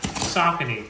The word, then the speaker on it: Saucony: Now, you guys know on this channel, I've been an absolute devotee to Saucony. The last, did you hear how I pronounce that? Saucony.